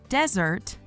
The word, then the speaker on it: desert: desert, the noun, is pronounced .